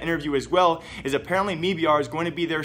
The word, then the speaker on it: MIBR: me BR now apparently we've mispronouncing MIB are the entire time if you guys do know MIB are the brand is actually standing for made in brazil the way no wins and actually pronounced in a video though is actually a me BR so if I ever